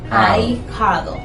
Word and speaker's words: ahijado: Ahijado. Y ahí lleva H intercalada. Jado. Y es dictongo porque ahí, como la H no tiene sonido, se considera como una sola sílaba.